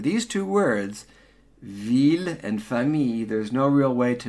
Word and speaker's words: famille: No L's. So it's not la famille. That is wrong. La famille. So, city, la ville, pronounce the L's. Famille, family, skip the L's.